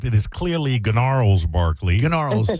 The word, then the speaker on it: Gnarls: Gnarls. the G is silent, but yes, well done, young lady.